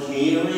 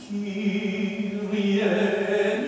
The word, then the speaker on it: Kyrie: Rockenberger, can you tell me how to say this word, Kyrie? Yeah. And then he got in there and he gave the downbeat. Kyrie.